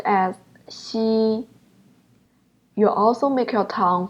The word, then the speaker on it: x: X is pronounced as Shi you also make your tongue flight and then try to pronounce the word sushi sushi flight your tongue